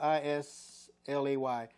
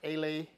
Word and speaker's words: Islay: It is Islay Scotch, spelled I-S-L-A-Y, which doesn't sound like Islay.